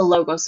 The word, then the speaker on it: logos: And then the last type of appeal is a logos appeal. And a logos appeal is going to be, sounds like the word logic, right? Logos, logic.